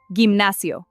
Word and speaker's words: gimnasio: And here, gimnasio. It sounds exactly like a J.